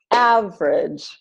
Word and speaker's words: average: with only two syllables so all of these words are pronounced aspirin average Barbara business camera different evening every family favorite federal general dressed